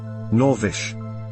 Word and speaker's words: Norwich: The pronunciation given in this dictionary seems to indicate that there are people who pronounce it without any elision or epenthesis. Norwich.